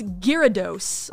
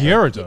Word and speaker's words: Gyarados: Gyarados. It's like Gyarados. Gyarados. What the fuck Yeah. is that? I say Gyarados. Yeah. Gyarados. Because in Japanese it's Gyarados.